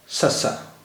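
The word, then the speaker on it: ਸੱਸਾ: भाषा का चौथा अक्षर ससा ससा इस अक्षर को हम ससा कहते हैं और इसका उच्चारण हिंदी के सा जैसा है लेकिन देखने में मा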